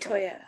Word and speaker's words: Itoya: Itoya. Yes. Love Itoya. So I say it like E, even though it's I.